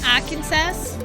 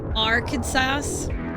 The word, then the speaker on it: Arkansas: No, you mean Arkansas? It's Arkansas. Best way to pronounce that one. That you can't mispronounce Arkansas? Well, I'm going to jail. Our Kansas?